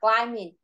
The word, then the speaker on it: climbing: Chữ này cái âm B không có đọc, nó là âm câm nên con không có đọc.